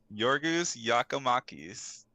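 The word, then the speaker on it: Giorgos Giakoumakis: I'll I'll show you how to say this your goose yakamakis is out I was so close to that play it back read PG yorgas yakomakis uh he got subbed again for injury and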